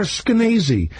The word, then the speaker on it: Skenazy: That's Lenore Skenazy. It rhymes with crazy.